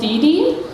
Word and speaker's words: Dede: All right, so another volunteer that's with us today is Dede. I think I might have pronounced your last name correctly. Correct, Good.